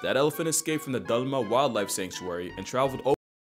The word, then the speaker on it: Dalma: Whenever you Americans spell anything Indian, it's just like you always put ah in A. And I was saying in the past, just say oh, not ah. It's not Dalma, it's Dalma.